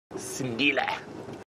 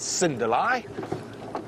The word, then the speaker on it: Sindile: Of course, we at Safari Live know him as Sindile. Or as sometimes we say, mispronounce, Sindalai.